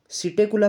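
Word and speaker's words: Psittacula: Corvus crow, Columba pigeon, सिटेकुला Perot, P silent year, ठीक है ना, पेवो पिकोक हो गया।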